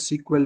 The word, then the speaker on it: SQL: So SQL is often pronounced as sequel because because of the acronym which is used across.